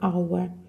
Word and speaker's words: hour: Х не читається у слові hour.